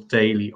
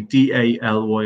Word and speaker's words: Daly: The website, Jason, we go to the website, Daly Ireland, and it's Daly, D-A-L-Y. I know it's spelled a lot different, a lot around the world.